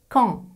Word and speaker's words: Caen: Et plus rarement, A plus O plus N ou A plus E plus N, comme dans le Fan ou la ville de Caen. Fan, Caen.